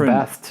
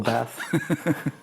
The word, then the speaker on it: Bath: Well, that's the proper English pronunciation of Bath. So. Yeah. But you know, I don't. But anyway. Yeah, I don't say that. I say in the Aussie way, Bath.